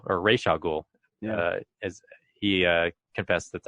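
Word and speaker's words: Ra's al Ghul: and he's famously responsible for creating uh Razul or Ray Sha Ghoul as he uh confessed that's actually how it's pronounced.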